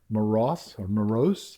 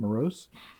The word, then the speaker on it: Meross: You're basically going to have, like in this one, this is actually made by a company called Meross, I believe is how you say it, Meross.